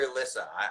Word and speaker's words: Elisa: Is that Elisa or Elisa?